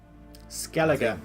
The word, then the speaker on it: Skellige: Skellige, that's how that's pronounced.